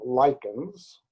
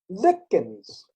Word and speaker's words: lichens: There are two ways of pronouncing it. Now, in North America, we call them lichens, but in the UK, they call them lichens.